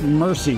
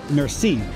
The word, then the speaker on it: merci: Merci. It's not mercy. Oh. It's more like merci.